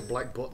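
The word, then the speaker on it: Black Butte: b t t e you don't pronounce the e but so black but then yeah black butt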